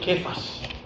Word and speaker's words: Cefas: Si Jesús hablaba en arameo, le habrá dicho quefas. Se escribe cefas, dice quefas, significa piedra.